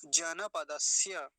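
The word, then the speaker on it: जनपदस्य: हापुड़ जन पदस्य अब इसको जनपद नहीं बोलेंगे जन नकार पूरा है ना तो नकार को पूरा रखेंगे क्या उच्चारण होगा जन पदस्य यहां अगर किसी का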